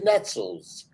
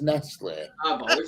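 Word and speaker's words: Nestlé: people set things Nestle it's bloody Nettles but now everybody says Nas Square that's a proper pronunciation it's a Swiss company that's nice snack not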